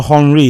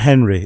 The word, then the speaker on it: Henri: It's also Henri. It's not Henry.